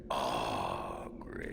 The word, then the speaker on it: Oghren: Name's Oghren. Punch him. But the ladies pronounce it Oghren.